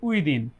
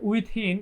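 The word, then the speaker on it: within: যোগ টু, এরপর হচ্ছে উইদিন। আচ্ছা, আচ্ছা, এখানে হচ্ছে উইথিন এরকম অনেকে উচ্চারণ করে। আসলে এইখানে আপনারা হচ্ছে দি পড়বেন, হ্যাঁ, উইদিন, ঠিক আছে, এরকম দয়রসি দি, উইদিন এরকম পড়বেন।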